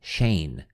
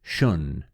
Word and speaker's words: Schoen: Ra had pronounced his last name Shane, but there was not an MD of any type by that name. Finally, we hit upon the German spelling, although if the name had been pronounced correctly, it would be Schön, more or less.